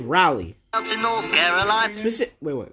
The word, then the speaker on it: Raleigh: It's pronounced Raleigh.